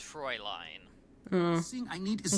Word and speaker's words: Fräulein: It's pronounced Fräulein.